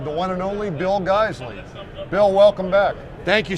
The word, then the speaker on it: Geissele: our name, first off, they don't pronounce it Geissele, like hey guys, and Lee, like Bruce Lee. All right, they say Geissele, okay? Just like Porsche, it has the E on the end.